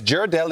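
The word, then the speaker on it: Ghirardelli: It's Gerardell.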